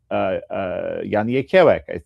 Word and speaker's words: Jan Jekielek: I said to him, I said, Jan Jekielek. I said, that's how you say my name in Polish, right?